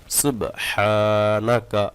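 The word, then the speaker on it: سبحانك: দিয়েছি সুবহানাকা আল্লাহুম্মা সুবহানাকা সুবহানা সুবহ বলে থেমে যান তারপর হাটা চাপ দিয়ে বলবেন সুবহানাকা আল্লাহুম্মা সুবহানাকা আল্লাহুম্মা ওয়াবিহামদিকা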